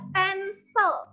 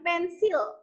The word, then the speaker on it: pencil: sharpener pensil ya dibacanya pensil kayak bilang kesel gitu ya pensel ya bukan pensil atau pencil tapi pensel ya pensil nah yang ini